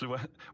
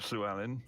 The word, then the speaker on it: Llewellyn: Red Dwarf, yeah, easily Robert Llewellyn. Yeah, Robert. Yeah. I see. It's funny. Everyone. I'm used to hearing people say Robert Llewellyn, but I automatically pronounce it Robert Llewellyn because of the Welshness.